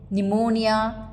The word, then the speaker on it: pneumonia: as PO with aspiration silent in words like cboard pneumonia salum receit where P remains silent alic variants of per